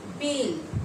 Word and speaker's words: बैल: Next देखिए बेल, उच्चारण देखिए, ब में ए ल, बेल, और यहाँ पर ब में ए ल, बैल।